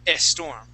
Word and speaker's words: storm: So we're going to practice these words and practice not adding an E at the beginning of the word. So we had stood, or the word is stood, okay, and we had storm, which you would pronounce storm, okay?